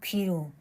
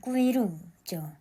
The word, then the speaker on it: 归路: 이 드라마의 중국 원제는 꾸이루예요. 도금어로 읽으면 귀로, 중국어 발음으로 읽으면 꾸이루죠.